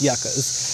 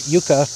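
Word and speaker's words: yucca: it should be fine they're just yucka right yaka is like a good amount of drainage and yes I am pronouncing it right Yuka is a different plant it's spelled different it looks different don't come for me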